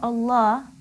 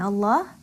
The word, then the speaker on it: Allah: When we have Allah, if there is fatha or dhamma before the lam in Allah, Allah will be pronounced with a full mouth, heavily.